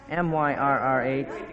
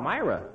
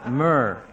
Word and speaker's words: myrrh: How do you pronounce M-Y-R-R-H? M-Y-R-R-H. Myra. That's the way you say it in the pageant, too. That's wrong, huh? Uh-huh. It's myrrh, like gold, frankincense, and myrrh.